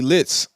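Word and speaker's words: Lihtz: and I like this kid um from Philly litz it's spelled l i h TZ litz he actually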